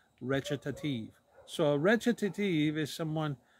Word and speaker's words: recitative: on your slide it looks like recitative it's pronounced recitative so a recitative is someone who will half